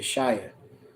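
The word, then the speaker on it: ישעיה: 1918, Isaiah, Yeshaya. All right. It says, that's Isaiah name in Hebrew, how you say it.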